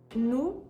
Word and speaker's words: nous: You'll also notice that the S's at the end of nous and mangeons are also silent, but that brings us into the rule on final consonants.